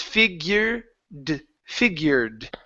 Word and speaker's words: figured: on here is that you're pronouncing the E you're saying figured okay it's not red it's figur figured figured there you go one